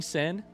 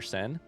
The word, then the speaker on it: Seine: The way I've always said it is the river Seine. So I'm just saying Seine kind of like that because it's like that without an E on the end, I think.